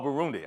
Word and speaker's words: Burundi: no how do you say it again Oh Burundi okay so but for those African descended people